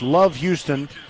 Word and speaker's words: LOVB Houston: The B is silent. It's Love Houston, and they're one of